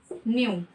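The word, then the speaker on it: knew: Second form इसकी क्या होगी, न्यू। ठीक है, इसमें के साइलेंट है, इसकी थर्ड फॉर्म क्या होगी, नॉन।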